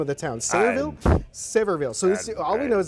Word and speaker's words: Sevierville: How do you pronounce the name of the town? Sevierville? Sevierville.